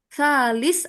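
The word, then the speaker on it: ثالث: 3 dari salasah. Nah, nanti gimana Kak? Pakainya salis apa salas? Yang bener Kak? Kak Rifki. Salas. Salis gitu ya. Oke. Oh, salis. Ya, itu tanggal 3.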